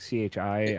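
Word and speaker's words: χ: it's a key like CH I I think if you write it out and it looks like an X with like a little wave he's a Greek X and it's also sometimes pronounced Chi so like sometimes in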